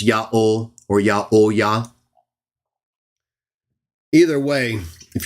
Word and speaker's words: Yahweh: Jerome continues, it is the proper name of God and can be pronounced as Yahweh.